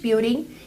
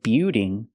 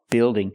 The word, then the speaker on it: building: warehouse is a large buing used to store Goods the word is not pronounced buing it's pronounced Bill building building use the short I sound like this is plus the dark L Bill o building building